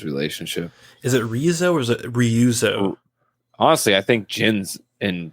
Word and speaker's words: Ryuzo: too i don't know it's r-y-u-z-o so it's really like i mean if we're doing super white pronunciations that would be ryuzo least favorite mission